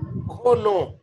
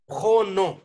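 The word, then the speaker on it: prénom: ये है नू और सर आपने प्रोन को क्या प्रस किया था प्रोन खोनो खोनो नो खोनो इसमें अक्सर का जो लास्ट वाला अल्फाबेट होता है यह साइलेंट होता है अक्सर कात पनो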